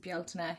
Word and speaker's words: Beltane: I know here in Ireland we pronounce it Beltane.